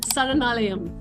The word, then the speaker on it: Saranalayam: It's called Saranalayam.